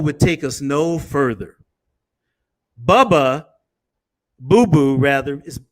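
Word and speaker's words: Bubu: Boo Boo rather, is spelled B-U-B-U.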